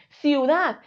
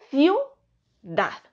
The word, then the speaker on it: ciudad: voz y forman diptongo decimos ciuad ciuad no decimos ci u d ciu d diptongo y finalmente ruido pasa